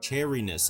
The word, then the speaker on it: chariness: Chariness, like cherry.